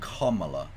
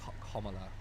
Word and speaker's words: Kamala: Because we were talking about the pronunciation of Kamala Harris's name. Apparently, it's Kamala, isn't it? Kamala, like Kamala is apparently how it's supposed to Oh, be it's pronounced.